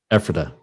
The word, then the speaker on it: Ephrata: Oh, Pat and I, we've been back and forth to Pennsylvania to the Ephrata area, and we found a house. What area? Ephrata. Ephrata. Yeah, how do you spell that?